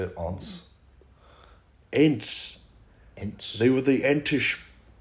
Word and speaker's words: Ents: Why would they name them something that sounds like ants if they're so big?